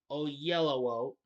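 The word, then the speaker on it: Oyelowo: role of Emma David o ooo I'm sorry I'm oh yellow o there I got it right there we go that's how you pronounce it who has been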